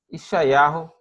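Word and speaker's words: ישעיהו: Nosso estudo de hoje, ele é sobre, como eu já disse, Ishayahu Hanavi, ou Hanavi Ishayah. Existem maneiras diferentes de pronunciar o nome do profeta.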